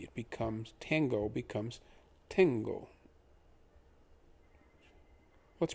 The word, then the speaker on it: tengo: front of it so think of the word tango but with an e where the a would be it becomes tango becomes tengo let's pronounce both words